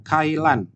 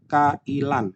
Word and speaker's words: kailan: Lalu ada Kailan. Nah, di sini dibacanya Kailan, bukan Kailan.